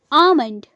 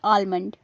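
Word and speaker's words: almond: इसकी correct pronunciation होगी आमंड यह शब्द भी कई बार गलत बोला जाता है आमंड में एल साइलेंट होता है यानी इसे आमंड बोलना चाहिए ना कि आलमंड एल साइलेंट होता है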